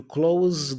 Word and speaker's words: close: the S sound basic now words in English that have the S sound but there are verbs tend to be pronounced with a z sound so for example the verb close you see you close the door that's a verb so